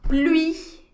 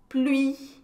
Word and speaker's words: pluie: E E, as palavras terminadas com I, E em francês. O E não é pronunciado, mas o I é pronunciado bem forte, tá ok?